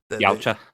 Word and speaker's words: Yautja: What is it, Yachtja or Yautja. yeah, there we go.